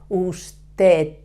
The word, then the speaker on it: usted: same you have to put the tip of your tongue touching the upper teeth and avoiding to touch the roof of your mouth with your tongue okay usted remember in the third